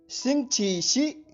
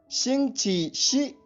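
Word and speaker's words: 星期四: इसकी स्पेलिंग सुनिए, XINGQISI। एक बार फिर, XINGQISI। ध्वनिवादन सुनिए, शिंगची शी, शिंगची शी, शिंगची शी।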